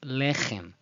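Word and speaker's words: לֶחֶם: So while some pronounce it the other way around, with the stress at the end, the meteg tells us the stress in the first syllable is the preferable correct one.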